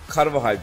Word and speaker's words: Carvajal: Carvajal diye okunuyor dediler ona da.